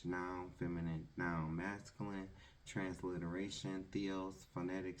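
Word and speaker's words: θεός: the study of God the word god translated into Greek is pronounced Theos which means the unknown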